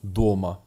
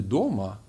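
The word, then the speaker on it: дома: W domu to po prostu doma. Tak jak tutaj adin doma, czyli sam w domu, a jeżeli chcielibyście powiedzieć jestem w domu, też mówicie po prostu ja doma. Zapamiętajcie, że akcent pada na o.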